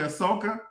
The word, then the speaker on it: Ahsoka: Ahsoka?